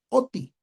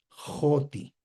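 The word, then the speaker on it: ὅτι: Y entonces el espíritu rudo se pronuncia como una J. Por eso la pronunciación sí no sería oti, sino sería joti.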